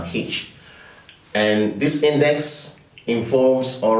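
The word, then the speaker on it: Hirsch: George H index or if I'm if I want to be very perfect with pronunciation of the of that particular word it's called a uh hitch and this index involves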